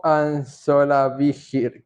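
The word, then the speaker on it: Ansolabehere: Germain y este apellido, tú puedes pronunciarlo como Joe Anzola Vigir.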